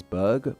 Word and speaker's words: burgh: this gave us the city's name which is pronounced as Berg but spell as it should be pronounced as